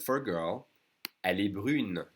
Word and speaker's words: brune: And for a girl, elle est brune. Now we separate the U and the N, and we do pronounce the N. Elle est brune.